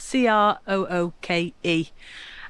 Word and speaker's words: Crooke: I've just moored up here now in the village of Crooke. Not like the villain, it's spelt C-R-O-O-K-E. And I'm right opposite the pub.